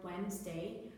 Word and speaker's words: Wednesday: Wednesday so this word Wednesday we do not pronounce the D even then we spell